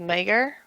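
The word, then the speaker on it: Maegyr: Been watching the interactions between Robb Stark and Talisa Mager. That's how you pronounce her last name.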